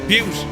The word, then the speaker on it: Butte: Butte is actually pronounced like beauty. Butte, gotcha, not boot. Butte.